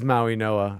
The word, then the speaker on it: Mauigoa: It is Maui Noah. All right. Francis Maui Noah is how you pronounce this gentleman's name.